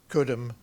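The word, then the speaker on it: Cudham: Bromley there were three villages down kudam you had to pronounce it that way otherwise you got into trouble and and no nobody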